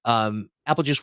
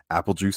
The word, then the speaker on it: Aepelgeuse: But I am Aepelgeuse, spelled exactly like you see on your screen. It's Aepelgeuse spelled like Beetlejuice.